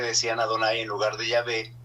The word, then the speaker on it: Yahvé: Dios y por tanto comenzaron a pronunciar el nombre como Jehová. Pero en realidad los judíos nunca usaron el nombre de Jehová porque no corresponde a la pronunciación original. Quiere decir entonces que el realmente el nombre que Dios se ha dado a sí mismo es Yahvé.